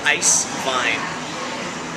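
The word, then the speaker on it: Eiswein: wines ice wines so in German it's e s w e i n e i s w e i n Ice Vine and of course we spell it ice wine it means true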